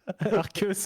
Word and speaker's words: Arceus: Donc Non, je ça, mets pas Dracarma, moi je mets Arceus, je trouve ça plus fort. Non, Ouais, mais Il il est prononce ex, bien c'est Arceus chiant. par contre. C'est étonnant. Hein Arceus. Arceus, ouais.